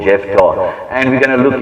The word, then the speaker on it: Jephthah: The name Jephthah is very unique. Jephthah, pronounced with the F's.